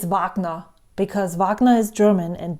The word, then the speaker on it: Wagner: Um, it's so hard for me to pronounce Wagner. Actually, it's Vagna because Vagnner is German and this guy that it's named after is German.